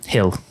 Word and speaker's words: Gil: So it goes Giolito, who's been probably our second best guy this year, against Gill. It's Gill, right? Hill. Okay. And pronunciation's tough.